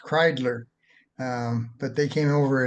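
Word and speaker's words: Kreidler: out that the that my ancestors came from Germany so it's pronounced kler um but they came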